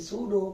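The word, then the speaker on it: pseudo: सूडो, पी यहाँ पे silent है, सूडो सॉलिड, या इसे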